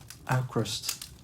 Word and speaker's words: Avkrvst: what band our band ah acrossed 3 the letter v as U I don't think you